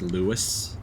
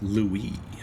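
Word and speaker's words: Louis: Revenant suffering must end like how you're specifically spelling it like that in order to force it to be pronounced Lewis she must have fled deeper inside hope she's all right yeah it's it's Louie uh okay should I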